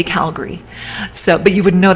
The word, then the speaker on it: Calgary: I'm from in Alberta is called Calgary it's it's spelled at the end g-a-r-y but nobody says Calgary we say Calgary so but you would know that unless you're